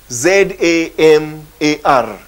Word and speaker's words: zamar: Yeah, and it's spelled Z-A-M-A-R. Z-A-M-A-R. And it's pronounced zamar. That is, it's pronounced as Z-A-W-M-A-R.